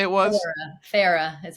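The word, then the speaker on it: Feyre: Fairy? No. What did we say it was? Farah is how you say her name.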